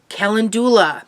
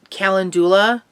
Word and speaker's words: calendula: There's two different ways of saying it. So, you know, like many things, I think I normally pronounced it calendula, but I think a lot of people might say calendula.